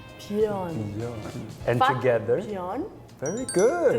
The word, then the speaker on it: björn: This pronunciation. Yeah, so that word is actually björn. Björn.